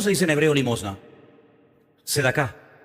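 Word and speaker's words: צדקה: Sedacá. Sedacá.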